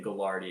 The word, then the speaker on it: Gagliardi: And I also want to emphasize there is a second G in Galliardi. It's, if you were to read it phonetically, it's Gagliardi. But just like Lil Wayne, real G's move in silence, as does John Gagliardi.